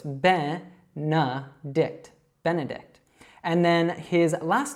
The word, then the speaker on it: Benedict: So it's not A sounds like you might think seeing those E's in there. It's actually an E and a schwa. So it's Benedict.